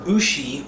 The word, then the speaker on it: Ushi: Now, Ushi Origami is the word Ushi, or you, or it's hard for me to say because I'm obviously not Japanese, but it's U-S-H-I, or I think that's pronounced Ushi Origami.